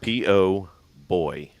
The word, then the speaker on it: po' boy: Shrimp po' boy, as in pull? Pork? P-O boy. Po' boy. Po' boy. Like poor, but you're just saying it with an accent? No, that's how it's spelled.